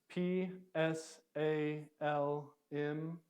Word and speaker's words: Psalm: have up here salmos p s a l m what is that Psalm Psalm and so they would actually say the P sound at the beginning whereas we don't but that's that letter